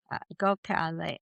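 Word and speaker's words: Gokhale: Um and her name is spelled G O K H A L E Go Cal.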